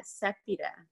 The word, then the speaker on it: Sapita: Am I pronouncing your name correctly? Hey, yeah, Sapita.